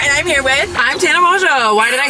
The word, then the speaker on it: Tana Mongeau: I'm Tana Mongeau. Why did I say it like that? Why did I say it? Tana Mongeau. It's Tana Mongeau.